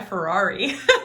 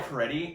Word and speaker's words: Fieri: I thought it was Guy Ferrari. It's Guy Fieri, and I really hope he brings his Applebee's menu to the competition.